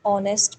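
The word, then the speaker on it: honest: एच इज़ ji silent. ऑनेस्ट मैन।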